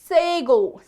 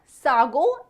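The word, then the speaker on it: sago: English में कहते हैं सेगो सेगो नॉट सागो इट्स सेगो next one इज काले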